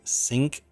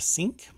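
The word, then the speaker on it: Cync: of its smart lighting brand sync I think that's how they pronounce it sync c-y-n-c Dynamic lights or dynamic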